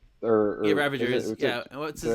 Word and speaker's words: Ravagers: The Ravengers. Yeah, Ravagers.